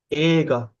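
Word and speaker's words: 映画: Ega. Ega. Okay. Going to be Ega. Ega. So I'm going to write the pronunciation in no first.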